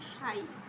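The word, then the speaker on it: ψ: আরেকটা বিষয় বলে দেই যে এটার নাম কিন্তু সাই উচ্চারণ কিন্তু সাই এটা অর্থাৎ সকীয় সমীকরণে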